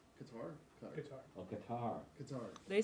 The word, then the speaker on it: Qatar: Qatar's World Cup building boom. Too hot to work. Did I say it wrong or did I say it right? Qatar?